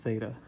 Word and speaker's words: theta: line right through the middle of it it's pronounced theta okay so I'm gonna call the angle theta